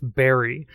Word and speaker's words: Berri: Well, her name does rhyme with Barry, but uh no, I don't think so.